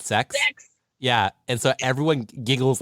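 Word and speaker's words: secs: is dot s-e-c-s so it's pronounced dot sex yeah and so everyone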